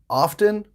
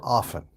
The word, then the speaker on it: often: So for example, the word often, is it often or often? Both. Native speakers say them both ways, so don't worry about it.